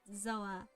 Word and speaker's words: Zoa: you know it's uh it's zoa you pronounce it zoe if you ever curious